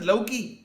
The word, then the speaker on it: Loki: Pronounce it Loki. Oh, Loki. Okay.